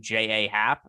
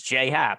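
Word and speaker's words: J. A. Happ: really weird but yeah his name is j hat but it's spelled j period a period so for the longest time i was calling him j.a happ and i was doing a baseball show some of the time goes why do you call him j.a hats like because that's how it's spelled and he's like no it's j hap and i was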